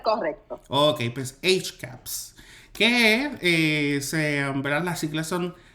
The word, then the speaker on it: HCAHPS: estoy pronunciando correctamente, a lo mejor coloquialmente se pronuncia de otra manera, HCH, HCAP. HCAPS, exacto.